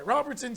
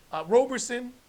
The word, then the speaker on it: Roberson: What do you think about the Andre Robertson signing? Roberson. I always say his name wrong.